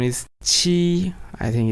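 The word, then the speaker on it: 七: 7 is qi. I think it's again very easy. 1 is e. 7 is qi. So very similar, very easy.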